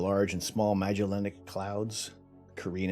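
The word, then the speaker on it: Carina: and small magellanic clouds korean and nebula i've also heard someone pronounced as the karina nobody like just doesn't sound right this isn't the same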